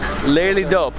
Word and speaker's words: Lelydorp: the name of this town again the village lady dope oh there it is Leigh Leigh dope of